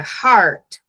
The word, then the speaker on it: heart: Por exemplo, a palavra heart, para eu não confundir com hurt, eu posso escrever ela dessa forma. Heart, coloco um acento, eu sei que a tonicidade dessa palavra está aqui na frente. Heart, para nunca sair hurt.